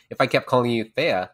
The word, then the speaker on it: Thea: When I had kind of adopted this name, I had pronounced it Thea, which was just how I pronounce it when I first decided upon it. But after speaking with a bunch of other people and, introducing myself as, now I'm going to say Thea, that's how everybody else just pronounced it. So it was a lot of just correcting people and saying, well, it's actually Thea rather than Thea.